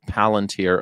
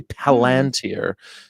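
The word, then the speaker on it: Palantir: Um, which most people say palunteer erroneously, but it's actually palanteer if Well, he named it after a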